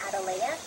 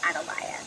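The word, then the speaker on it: Atalaya: would have pronounced it closer to the Spanish way of pronouncing it which is Adia and it means it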